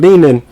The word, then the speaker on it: Leanan: And somewhere along the line, the spelling of Leanan was changed. And with that, the pronunciation changed. Instead of Leanan, it became Lennon.